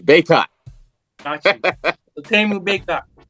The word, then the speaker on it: Bacot: My last name is French. So technically it would be Bacot. You wouldn't pronounce the T.